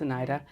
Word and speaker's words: Anita: It's spelled Anita, but it's Oneida.